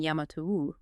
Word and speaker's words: Yamato: This is the origin of the lineage that ultimately centers itself in Yamatou. And again let us emphasize the precise ancient pronunciation here. Yamato.